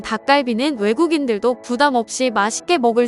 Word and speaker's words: 닭갈비: 이름만 바꿔 벤치마킹한 것이었습니다 일본에서는 닭갈비 라는 발음은 정확히 못하고 타 까 루비 라고 부르죠 그렇다면 일본인들은 닭갈비를 어떻게